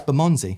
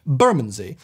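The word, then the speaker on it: Bermondsey: a more RP way the correct way is saying buray acent on the bur Burmy Burmy bermy Burmy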